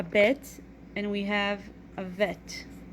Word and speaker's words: vet: and we have a vet bet is with a dot that is without a dot bet sounds like be banana that sounds like V Victor let's practice writing bit